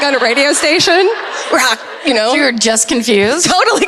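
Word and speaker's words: Roch: It is not spelled like that at all. That's fucking... Oh, I see. Okay. Oh, I get it. Yeah. Okay. Right? R-O-C-H. And that's I had to write it phonetically for myself. I literally on every page it says rock like a rock, Terry-O like SpaghettiOs. Wow.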